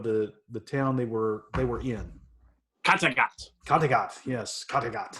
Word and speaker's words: Kattegat: Kattegat. That's exactly how they say it in the show every single time. Kattegat.